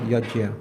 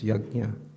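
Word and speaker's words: yajna: Not yagya. It's yagna. I I I'm doing a course right now in reindavan talking about pronunciation of pushukta. It's yagna. Okay. Like that. Yagna. Okay. All right. Because I also used to say long time ago yagya but it's yagna according to the acharius.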